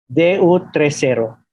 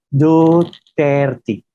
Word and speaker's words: Duterte: El hemisferio español de mi cerebro, cuando lo vi, lo pronuncié Du30, que no significa nada. Más tarde me dijeron, no, es Duterte. Duterte.